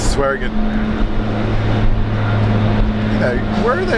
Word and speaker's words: Swearingen: It's Swearingen.